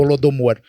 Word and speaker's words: Holodomor: aqui falamos Holodomor, eu não sei se a pronúncia é Holodomor. Correto, Ricardo. Holodomor.